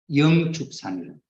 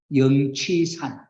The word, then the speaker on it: 영취산: 그게 첫 번째가 어디냐니까 영축산 영축산이라고 하는데서 가르칩니다 영축산은 석가모니 부처님께서 제자들에게 설법을 하던 산이 영취산 영취산입니다 영지세는 영축상으로도 발음입니다 태초에 석가모니 부처님 설법을